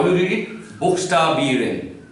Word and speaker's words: Buchstabieren: Buchstabieren. Buchstabieren, that means to spell. To spell. Zum Beispiel kann ich Ihnen fragen, buchstabieren Sie Ihren Namen.